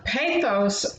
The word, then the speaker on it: pathos: And pathos, I always think of it as rhyming with bathos, drowning in a bath of tears.